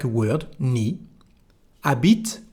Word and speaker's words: habite: Habite, we don't pronounce the letter H.